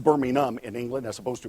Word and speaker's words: Birmingham: the second largest city of England, Birmingham, England, pronounced Birmingham in England as opposed to Birmingham, Alabama.